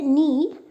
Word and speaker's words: knee: The word knee starts with letter K, but K is silent.